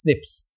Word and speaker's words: SNPs: single notide polymorphism we can say S snps pronounced as SNIPS snips right single nigglotide polymorphism is there this snips how many 1.4 4 million locations are there.